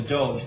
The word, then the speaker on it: Doge: which was almost tyrannical called the Dodge I or the Doge depending on which way you want to pronounce it I always like to call him the Dodge thought you're tuned into